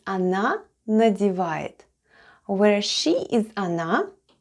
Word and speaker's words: она: The first letter is O and it's unstressed and is pronounced as A. Then goes N and A. And altogether it's она.